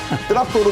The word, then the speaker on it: 뜨락도르: 저게 북한말로 러시아식 발음 뜨락도르입니다. 뜨락도르 부대가 나가고 있고요.